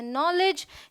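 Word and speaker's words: knowledge: alright rule number two अगर के के बाद एन आए तो के साइलेंट होता है जबरदस्ती ये इन सभी वर्ड्स में शुरू में रखा हुआ है इसका कोई मतलब नहीं है ये है नाइफ ये है नॉलेज ये है नी ये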